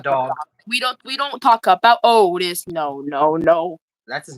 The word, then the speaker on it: Otis: We don't talk about Otis. No. That's his name, Otis? Yeah. Rhymes with Odie from Garfield.